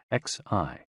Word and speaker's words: xi: And XI, pronounced like shi, which connects the whole body.